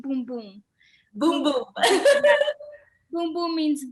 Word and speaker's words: Bum Bum: and i'm just gonna say one thing it's pronounced boom boom boom boom boom boom means but in portuguese